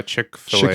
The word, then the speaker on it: Chick-fil-A: like what's that uh chickfila chick fet or whatever yeah it's funny I I think it's it's pronounced uh Chick-fil-A okay yeah but yeah like uh it's spelled like chick fill or something right but it's